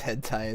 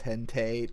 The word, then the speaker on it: hentai: My cousin pronounces hentai as hente.